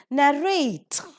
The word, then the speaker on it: narrate: So we have accordingly narrate, giving the stress on the second syllable.